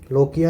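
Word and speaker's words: lochia: सो इस कंडीशन को अपन बोलते हैं क्या, लोकिया या फिर समटाइम्स इसको प्रोनाउंसिएशन में लोचिया भी बोलते हैं, ठीक है।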